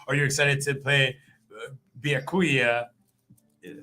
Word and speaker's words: Byakuya: Are you excited to play Byakuya Yeah, I said it right.